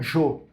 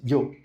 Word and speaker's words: yo: Mas você tem que ouvir um pouco de tudo para saber que os argentinos falam jo e os espanhóis yo.